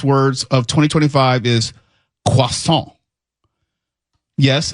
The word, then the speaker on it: croissant: Uh, the first of the most mispronounced words of 2025 is quason. Yes, it's a French word, but most people mispronounce it saying crosant and croissant. I've never said that. So it's not croissant.